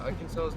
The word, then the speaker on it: Arkansas: Even though Arkansas's #1 seller is rice. I thought Really? carrots would be like a crop they would have in, but they don't. Yeah, Arkansas's #1 thing is rice.